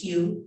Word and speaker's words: hue: The word is hue, H-U-E. You say it like home.